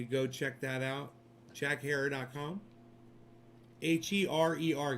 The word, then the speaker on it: Herer: H-E-R-E-R, guys. Just H-E-R-E-R. Herer. Pronounced Herer. H-E-R-E-R.